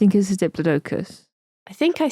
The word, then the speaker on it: Diplodocus: If following the Greek rules, the correct pronunciation should be Diplodocus with a soft O to rhyme with Liplodocus. Oh, Diplodocus then.